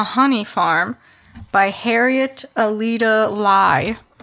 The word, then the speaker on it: Lye: So my pick is called The Honey Farm by Harriet Alida Lye. That's spelled L-Y-E. Mm. So everyone knows. It's like rye.